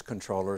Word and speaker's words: comptroller: the air that the even though it's spelled comptroller that the common usage is controller so let's go with